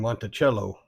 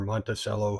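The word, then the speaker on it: Monticello: And Montello or Monttoello, however you want to pronounce it. My understanding is both of them are right.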